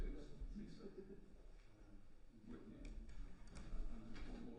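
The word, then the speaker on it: Liza: And Lisa is spelled, I think it's pronounced Lisa, but it's spelled L-I-Z-A. She's a Lisa, thank you. But I'm sure it's not Liz, it's Lisa.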